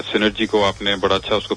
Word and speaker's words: Cnergyico: और क्या कहते हैं, अपना हम केमिकल मैन्युफैक्चरिंग जो एक सेक्शन है, सिनर्जी को आपने बड़ा अच्छा उसको प्रोनाउंस किया, उसकी सही प्रोनाउंसिएशन की.